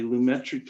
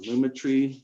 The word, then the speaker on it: Lumetri: one because this particularly lumetri color or luma tree depends on how you want to pronounce it you know these are